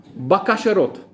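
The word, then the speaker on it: בכושרות: N so the word for prosperity in Hebrew is the word bakasharot. Sounds like a kosher rat bakasharot.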